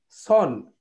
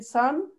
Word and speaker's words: son: কিরকম আপনি দেখেন, আমরা সন, এই বাচ্চা SON, এটাকে আমরা বলতেছি সন, কিন্তু একটা সূর্যের ক্ষেত্রে SUN, সেটাকে আমরা বলতেছি সান, but this is same pronunciation, there is no difference between সান অ্যান্ড সান। হ্যাঁ, সূর্যের ক্ষেত্রে আমরা যে প্রোনাউন্সিয়েশনটা করব, আমি আমার বাচ্চা, this is মাই সান, নট সন, এই প্রোনাউন্সিয়েশন গুলো আমাদের